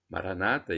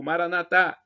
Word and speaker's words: Maranata: Maranata, eles dizem, com a tônica na penúltima sílaba. E eu digo, como católico, Maranatá, com a tônica na última sílaba. Não importa a pronúncia, o significado é o mesmo.